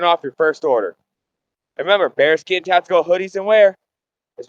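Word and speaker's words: Baerskin: Now bare skin is spelled B A E A R S K I N but it's pronounced bare skin.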